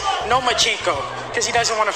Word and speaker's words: Lomachenko: I think you said his name wrong. It's Nomachenko because he doesn't want to fight me.